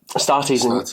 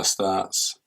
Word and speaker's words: Astartes: Astartes, not Astartes. Yeah. I guess. Yeah. I'm going to have to change it. I'm going to have to say Astartes.